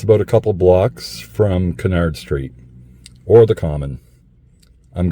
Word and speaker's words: Cunard: wondered why in Halifax we pronounce the street Canard Street not Cunard but he was famous